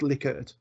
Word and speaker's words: Likert: but it is actually I am assured to pronounce Lily could then you've got one if you could pick